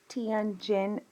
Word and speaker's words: Tianjin: So this event, there's a really good example, unfortunately, for it's pronounced Tianjin, China, and there's an example in the spring of 1998.